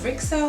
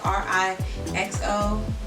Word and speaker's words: RIXO: now moving on to rickso i believe that's how you pronounce it ri xo for sure it's like so uh let's start with